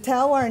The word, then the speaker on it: Talloires: research for the how do you say it talwar network that's the first question i always get how do you say it and then the next question is what is it the talwar network is a global coalition of engaged universities